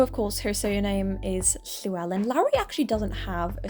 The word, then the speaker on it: Llewellyn: Celyn's surname is Llewellyn, which I know people might struggle at. It's actually really easy to say once you learn how to say the noise, which is actually a letter in Welsh.